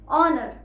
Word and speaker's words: honor: मैं आपको देती हूँ, ऑनर, HONOR। कुछ लोग इसकी स्पेलिंग HONOUR भी लिखते हैं और दोनों ही सही है। यहाँ पर भी फर्स्ट साउंड आपको ओ की सुनाई दे रही है, ऑनर, पर इसके एक्सेप्शंस भी